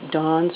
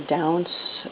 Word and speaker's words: daunce: braid called lace well I don't know how to pronounce it Dons or Downs or um it's spelled various ways d-a-u-n-c-e or Dons like the plural of when the sun comes up in the morning um this is the